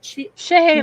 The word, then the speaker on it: Chehalis: Is that how you pronounce it? Chehalis.